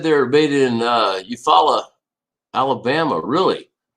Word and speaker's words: Eufaula: were made in uh eufaula alabama really hopefully i pronounced that right because i know in oklahoma it's called eufala the lake eufaula so uh yeah i